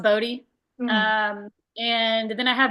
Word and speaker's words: Bode: and it's spelled B O D E. It looks like Bode, but it's pronounced Bodie.